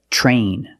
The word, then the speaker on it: train: When you have TR together in any situation, you can pronounce it tr, but usually we don't. We pronounce it ch. Ch plus the R sound, chr. Example, train, truck, tree, and travel.